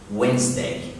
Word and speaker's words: Wednesday: يوم الأربعاء مفيش حاجة اسمها Wednesday. سيبك من الإيه في النص كده. Wednesday.